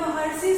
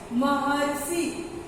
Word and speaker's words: महर्षि: तो जब हम जब महर्षि शब्द का उच्चारण करते हैं तो अरसी आता है, अरसी आता है। आप उच्चारण करके एक बार देख लो, महर्षि।